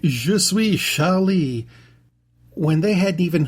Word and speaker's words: Je suis: Je suis is spelled J-E space S-U-I-S. It is not Jesus Charlie, nor is it Jesus Charlie.